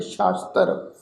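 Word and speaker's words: ਸ਼ਾਸਤ੍ਰ: वेद पुराण शास्त्र, ये जिहड़ा शब्द आ शास्त्र, इनू ससे पैर बिंदी नाल पाठ उच्चारण करांगे शास्त्र।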